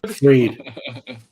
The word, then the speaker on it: Fried: Fried. No, he's good. Freed. It's spelled fried.